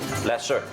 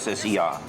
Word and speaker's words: Lasse: How do you pronounce Lassie? Lesser. Lesser. Yeah, in English it would be Lasser.